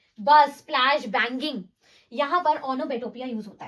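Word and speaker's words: onomatopoeia: इसको हम प्रोनाउंस करते हैं एज ओनोमेटोपिया एंड इट is basically words given for sounds.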